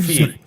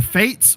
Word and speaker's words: FATE: to be vets see i'm calling them feet for the joke i know it's not how it's pronounced but their feet okay either fates or you know what